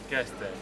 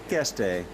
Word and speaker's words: Keszthely: And if you pronounce it Keszthely? Keszthely. Keszthely.